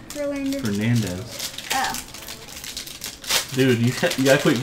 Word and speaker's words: Fernandez: Alex Fernander. Fernandez. Oh. Dude, you gotta quit guessing. You gotta read all the syllables, silly.